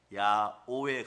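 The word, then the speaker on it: יהוה: 이스라엘 사람들에게 한번 그 발음을 히브리어를 써놓고 해보라고 하니까 우리 신학자들이 밝혀낸 단어예요. 야오에 가까워요.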